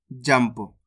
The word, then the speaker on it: जंप: जाम अनुस्वार की मात्रा जम, प, तो मिलके बन जाएगा जंप। इस शब्द के अंदर अपन ने आधा मा का उच्चारण करा है इस प्रकार से, जंप।